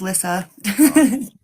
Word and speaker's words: Lisa: It's pronounced Lissa.